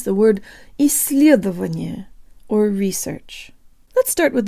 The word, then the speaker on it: исследование: half of this word for the soft L let's borrow from Welsh I believe there's this really cool double L sound they have it's like